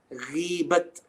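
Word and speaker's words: غيبة: If I said the word ghibat, ghibat, ghibat, okay, in Urdu. Yeah, so I'm not speaking ghiba. In Arabic, it would become ghiba, ghiba, ghiba. In Urdu, ghibat, ghibat.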